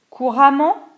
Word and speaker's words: couramment: Donc attention ici, on prononce A2MENT ou E2MENT de la même façon. Patiemment, indépendamment, couramment, différemment.